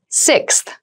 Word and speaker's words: sixth: fifth floor don't you sixth sixth sixth so sixth refers to the number six of something this is a really good word to practice some pronunciation slow down that six that middle part there the sixth book from